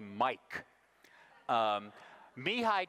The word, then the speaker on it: Csikszentmihalyi: name and he said call me Mike me hi csikszentmihalyi is talking here about